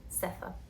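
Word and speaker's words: Sethe: Estuve viendo videos porque, pues, traductora y profe inglés, y quería saber cómo se pronunciaba este nombre, y en entrevistas Toni Morrison lo pronuncia así, Seth, así que es por donde voy a ir.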